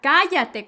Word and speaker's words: cállate: Oh, ya cállate con acento en la A. Primera A, ya cállate.